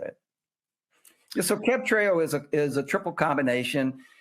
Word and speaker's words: Cabtreo: Cabtreo? Yeah, that's how you say it. Yeah, so Cabtreo is a triple combination.